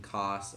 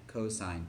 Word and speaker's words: cosine: we're not saying sin we're not saying cost okay we're saying sine cosine tangent copy this down so